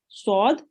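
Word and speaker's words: صاد: so a listen and it is sometimes mispronounced as seen so make sure to read this sword as swad and this is seen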